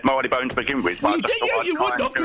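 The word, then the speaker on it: Marylebone: How would you say that? Mone. Wrong. Mapone. Correct. It's Marley Bone. It's Bob Marley Bone. I actually would have said Marley Bone to begin with, by the way.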